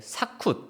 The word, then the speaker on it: 식굿: 네, 식굿, 기운은 이제 사쿠 또는 키운이라고 발음이 되는데요.